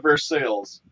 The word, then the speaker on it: Versailles: say for sale but you got but they pronounce it for sales here and if you say it the other